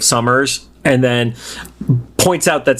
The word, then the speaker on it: Summers: He calls him Sumners instead of Summers.